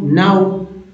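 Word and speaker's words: know: रूप में आया ओ, तो यहाँ पर के साइलेंट है, क्या है के साइलेंट है, इनको ना बोलते हैं तो नो।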